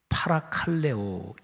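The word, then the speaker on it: παρακαλέω: 면 하다는 단어가 있죠 힐라 5로 발음하면 팔아 칼레 옥 입니다 이 단어의 뜻이 굉장히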